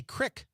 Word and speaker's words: creek: Creek. Me too. But a lot of people in Wisconsin say crick.